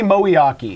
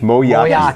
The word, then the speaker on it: Miyake: It's Tony Moiaki. Moiaki.